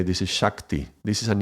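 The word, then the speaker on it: ਸ਼ਕਤੀ: of the words, but sometimes it's pronounced with a Sh, sometimes with an S, with a S. In this case, I would say this is Shakti. This is an I, so this is Shakti.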